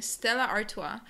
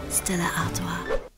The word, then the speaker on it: Stella Artois: Number 14, Stella Artois. Or beer. You can just, yeah, it's pretty good. You can just say Stella, but I mean, I think it's pretty close to the actual French pronunciation.